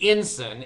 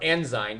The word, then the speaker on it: Ensign: So now it's called the Ensign, and that is from, or Ensign, depends on how you pronounce it.